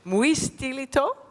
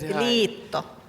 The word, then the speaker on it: Muistiliitto: But of course you are here as the president of the Alzheimer Society, and that is pronounced, I practiced with him, Muistiliitto? Yes. Good. Muistiliitto. Muistiliitto. Yes. It's like Italian, Muistiliitto.